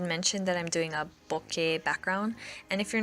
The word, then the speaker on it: bokeh: And I'm not even sure I'm pronouncing it correctly, but I found out it was a Japanese word and they just altered the spelling a bit, so that's probably how the Japanese would pronounce it. But I'm sure the Western accepted way of pronunciation is a little different, like Bokeh or Bokeh or something like that.